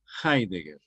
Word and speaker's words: Heidegger: el filósofo alemán Martín heidegger que se escribe con h H heeger dog Eider dog y se pronuncia heidegger es muy probable que